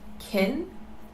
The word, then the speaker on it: can: this is not correct in positive sentences it is pronounced kin and is unstressed in negative sentences it